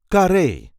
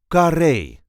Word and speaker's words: Carré: see how to pronounce kare the famous theater in Amsterdam. This is the way we say kare k. There is a light emphasis on the last syllable car.